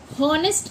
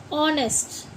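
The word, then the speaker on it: honest: इसके बाद जैसे हमने लिखा एच ओ एन ई एस टी तो इसको हम क्या बोलते हैं? हॉनेस्ट नहीं बोलते। ऑनेस्ट।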